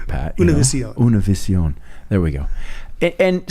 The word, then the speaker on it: Univision: I want to make sure I pronounce it with some flair. Univision.